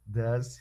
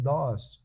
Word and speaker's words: does: Does she, does he. A pronúncia também é assim, does. Né? Às vezes o menino diz assim, DOS, professor, o DOS, não tem problema, mas você